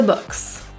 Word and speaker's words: books: The word books is pronounced as an upsilon vowel. So your lips are going to be protruded, jaw open, and relaxed.